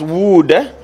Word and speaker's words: would: Yeah, this is pronounced as would. So the L is silent.